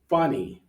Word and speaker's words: funny: And funny, first syllable.